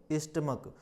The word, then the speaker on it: stomach: जब इसका प्रोनाउंसिएशन निकालेंगे तो इस CH का अर्थ का से निकल रहा है, यानी इसको हम क्या पढ़ेंगे, स्टमक।